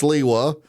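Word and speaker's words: Sliwa: He's he work he's not from New York but worked there for so long he's correcting my pronunciation. So it's Curtis Slaywa and it's John Katsumatitus.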